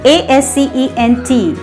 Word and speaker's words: ascent: And the sixth pair is assent. And both the words are pronounced in the same way. There is a minor difference in the spelling only. First one, ASCENT, ascent.